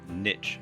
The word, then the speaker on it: niche: need to do is to choose a niche, or niche as some people pronounce it.